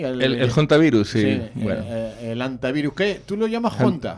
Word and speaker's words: Hantavirus: Bueno, eso es una forma de No, es que claro, en inglés en inglés la H se pronuncia, se pronuncia la H, ¿no? Hantavirus, elta, el Hondius, el